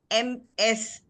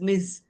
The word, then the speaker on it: Ms.: and so the this MS came into being and it is pronounced as Ms. Ms. it's neither Mrs. nor miss.